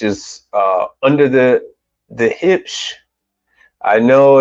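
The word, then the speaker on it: Huebsch: uh under the the hips I know it's h u e b s h I used to say hubish but it's it's German and it's pronounced hip so if you want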